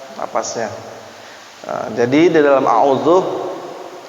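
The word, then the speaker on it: أعوذ: Nah, jadi di dalam a'udzu, cara bacaan yang tartibul qiraah. U-nya 2 harokah. A'udzu bil U-nya 2 ketukan. A'udzu billah, ketukannya masuk dulu. A'udzu billahi minasyaitonir rajim. Jangan a'udzu billah. Nah, itu enggak panjang ya.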